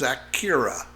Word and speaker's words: Zakira: And my kids' names are Zach and Kira. So it's ZAKIRA. Yep. A lot of people mispronounce it, and once you know where the name comes from, that fixes that.